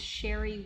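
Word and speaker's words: Cheri: The first is a woman named Sherry Wheat, C-H-E-R-I, and then Wheat spelled like wheat.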